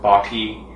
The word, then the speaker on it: bokeh: known as boka um people pronounce the the word in different ways some people pronounce it baky some people pronounce it like bokeh so um it you can call it whatever you want I call it bokeh because that's what it that's what it sounds like to me so I found that